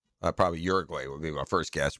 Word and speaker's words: Uruguay: I like saying Uduguay, but it's Uruguay.